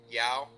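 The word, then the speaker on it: João: other and also um Yao and I hope I'm pronouncing that right j o a o I believe saying yeah okay uh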